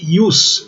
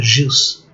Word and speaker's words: ius: Então pode aparecer com J lá, mas nos textos clássicos é impossível, né? É ius, não é jus.